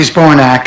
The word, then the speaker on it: Zbornak: My name is Dorothy Zbornak, and that's spelled just the way it sounds.